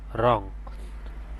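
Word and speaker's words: wrong: এখানে ডবলিউর উচ্চারণ না আসে। এখানে হবে রং।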